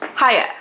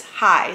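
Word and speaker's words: Heye: think it's pronounced Haya I always say hey but I think it's hi like hi yeah anyways let me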